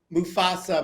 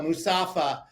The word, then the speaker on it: Mufasa: was gonna say meanwhile I was watching um Mufasa mustafaa I keep saying it wrong I cried I